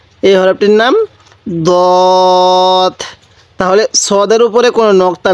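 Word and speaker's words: ضاد: আমরা এরকম একই করব না, দোনোটা হরফের উচ্চারণের মধ্যে অনেকটা ডিফারেন্স আছে। তাহলে সৎ। কীভাবে পড়ব? সৎ। এরপরে এই হরফটির নাম দত। এই হরফটির নাম দত।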